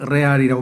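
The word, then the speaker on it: Real: 아주 이 고급 그런 마드리드 팀이란 뜻이고, 레알이를 영어로는 리얼이라고 발음하고 스페인에서는 레알이라고 발음해요.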